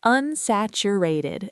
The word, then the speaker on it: unsaturated: It's pronounced unsaturated and the mean stress is still on sat.